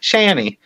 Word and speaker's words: Shani: Now you're being sarcastic with the Shan part. You're just being like, and you just gotta say it natural. Shani.